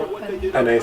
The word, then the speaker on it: Penei: Penei Sewell. Yeah, like the pasta, penne pasta.